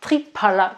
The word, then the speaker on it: Triphala: Triphala, c'est du Triphala, parce que le nom il vient du sanskrit et le PH, on le prononce pas comme un F, mais plutôt comme un P avec un P avec un petit peu de vent, d'air.